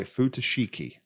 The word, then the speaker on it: Futoshiki: we're going to play futashiki i think is the way you pronounce that which is a